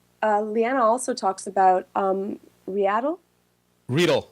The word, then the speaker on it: Readdle: Readle. I got corrected Readle. at Macworld. Readle. Thank you. Readle. You don't want to have angry Ukrainian developers on you about mispronouncing their company name, let me tell you.